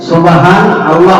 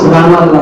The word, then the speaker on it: সুবহান আল্লাহ: এই জায়গায় একটা আপনাদের একটা মেসেজ দিয়ে দিই, সুবহান আল্লাহ বলে বলুন, সুবহান আল্লাহ, নুন মানতে আছে, সুবহান আল্লাহ এটা সঠিক উচ্চারণ। আর আমরা বলি সুবহানাল্লাহ, সুবহানাল্লাহ এটা ভুল।